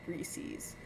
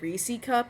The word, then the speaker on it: Reese's: Reese's. It's Reese's cup. Uh, people in my state say Reesei Cup and it pisses me off.